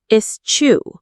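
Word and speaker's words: eschew: Let's learn that word. Is chew is chew. It sounds like escu means to deliberately avoid using abstaining from or giving up something.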